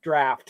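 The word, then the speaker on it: draught: But Gary knew that the English spelling of uh of draft of beer was d a u g ht. Draft.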